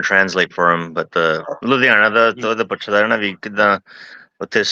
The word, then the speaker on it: Ludhiana: And I hope I pronounce this right too. But Ludhiana. Ludhiana.